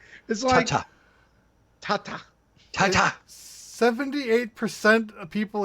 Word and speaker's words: tate: It is tate. Ta-ta. Tate mode. It's like Ta-ta.